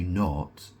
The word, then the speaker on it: knot: You don't know which one it was, whether it was N O T or K N O T because K is a silent letter.